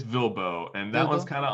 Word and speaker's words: VLBO: how do you say that vlbo lbo uh bilbo it's vilbo and that was kind of on the back